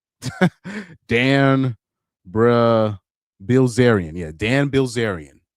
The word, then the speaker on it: Bilzerian: I don't know how to pronounce his name. Dan Braz Bilzerian.